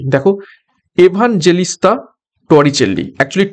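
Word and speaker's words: Torricelli: সি দেখো even জেলিসতা টরিচেলি একচুি টরিসলি আমরা বলে থাকি টরিসলি টরিসলি পরীক্ষা টরিসলি আসবে তো উচ্চারণটা হবে টরিচেলি থারমোমিটারের প্রথম রূপ দেন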